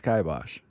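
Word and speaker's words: kibosh: I'm saying it's kaibos. Is there even a is there an I in the word? I don't think so. I just think that's how it's pronounced.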